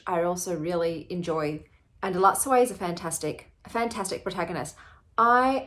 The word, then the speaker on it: Elatsoe: So I finished Elatsoe, that's how you say it.